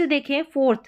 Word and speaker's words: though: जैसे कि यहाँ पर देखिए THOUGH, इसको दो, यहाँ पर OUGH है और यहाँ पर भी OUGH है, ऑल दो पढ़ेंगे, दो और ऑल दो।